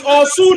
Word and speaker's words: Osu: If you pronounce it good, then I can understand. But your pronunciation is very wrong. So I. It's Osu now. They call it Osu.